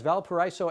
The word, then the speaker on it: Valparaiso: We are back with the pandemic version of the Valpo Bowl as Valparaiso Avenue rivals Sacred Heart Prep and Menlo play their final football games for this season.